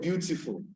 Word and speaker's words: beautiful: for the word teacher the accent will be on view for the word beautiful the accent to be